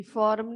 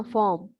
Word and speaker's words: form: हाँ जी, फॉर्म नहीं बोलना, फॉर्म. आर साइलेंट है यहाँ पे.